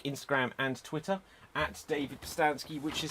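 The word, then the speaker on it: Pustansky: quickly for me uh my name is david pistanski you can find me on facebook instagram and twitter at david postansky which is spelt p-u-s-t-a-n-s-k-y you can also get a copy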